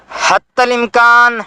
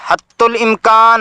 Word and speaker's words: حتی الامکان: چند کلمات تا کے زبر کے ساتھ استعمال ہوتے ہیں: حتی الامکان، حتی الوسع اور حتی المقدور۔ ان کے معنی بالترتیب یہ ہیں: جہاں تک ممکن ہے، جہاں تک بس میں ہے۔ ان کا تلفظ اردو میں تا کی پیش کے ساتھ حتی الامکان، حتی الوسع اور حتی المقدور کیا جاتا ہے، جو غلط ہے، البتہ لکھتے صحیح ہیں۔ عربی میں نون